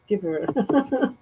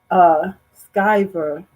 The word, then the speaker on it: Skyver: I said Skiver. Skyver. I was trying to put the comment. Where did I see that? Sorry, you guys. I'm trying to find. There we go. Skyver rhymes with diver.